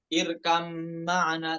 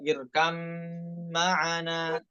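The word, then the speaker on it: ٱرْكَب مَّعَنَا: Nah, di sebagian qura yang lain, sebagian imam qura yang lain dibacanya izhar itu. Ya, bukan irkam ma'ana tapi irkab ma'ana. Ya, namun Hafiz dibaca dengan idgham ya, irkam ma'ana.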